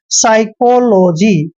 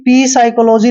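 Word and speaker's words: psychology: होगा पी silent मतलब एस से पहले अगर पी आए तो प साइलेंट होता है ध्यान रखिए एस से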